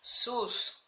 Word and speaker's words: Zeus: Zeus, that's how you pronounce it, Zeus, who will not have brought this on anyone unless it brought benefit to the world as a whole.